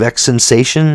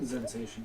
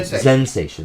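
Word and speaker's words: Xensation: We're looking at the Zealot Sorcerer from I believe X Sensation. X Sensation, is that how you say it? X Sensation? Zensation. Yeah, Zensation, there we go.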